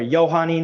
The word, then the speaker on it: Johannine: that we call the Johannine comma, or the comma Johannine, depending on which you put first, or Johannine if you don't want to pronounce the J.